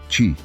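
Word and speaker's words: qi: É aqui que entra o famoso qui, que se pronuncia ti.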